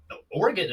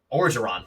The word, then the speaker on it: Orgeron: Honestly, the reason I wouldn't say LSU, I mean, Oregon, or however you say his last name. Orgeron, thank you. I always want to say Oregon because it's spelled like that.